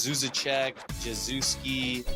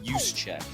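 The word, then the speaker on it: Juszczyk: the sun like just Z Che juski it's pronounced use Che like you use a check you are a fullback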